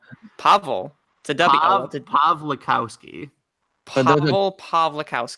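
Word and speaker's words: Pawlikowski: Pavlich house key okay you don't pronounce w s-- really I guess it's like Rachel Weisz or manic yeah they're V's yeah it just looks like a W cuz you know I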